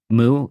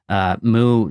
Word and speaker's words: Mu: And then there was the other one, the time of, I think it's pronounced Mu, M-U.